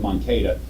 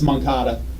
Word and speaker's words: Moncada: I said it wrong. I said Moncada. It's Moncada.